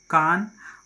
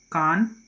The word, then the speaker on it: Cahn: तो इसमें चलिए हम लोग देखते हैं, पहला जो C है दैट इज़ C फॉर कान या केन कहते हैं कुछ लोग, केन, स्पेलिंग है CAHN, एन, केन, ठीक है, केन।